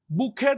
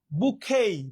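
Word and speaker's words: bouquet: আচ্ছা, বুকেই, বুকেট বলতে পারো, বুকেই বলতে পারো, ফুলের তোড়া, ফুলের তোড়া। এর মূল বা আসল প্রনাউন্সিয়েশন হচ্ছে বুকেই, বুকেই, টির উচ্চারণ হয় না, বুকেট বা বুকেই।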